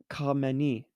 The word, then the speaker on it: Khamenei: are chinese um so this one is ayatollah khamenei that's where i'm gonna go yes that's 100